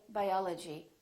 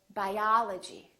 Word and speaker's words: biology: We don't say biology, we say biology, biology. I'm studying biology.